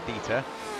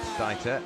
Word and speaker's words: Dieter: He's saying that we have been pronouncing Dieter wrong, so it is Dieter and not Dieter, and I've said Ayres, and yeah, it's quite a tricky one, is Ayres.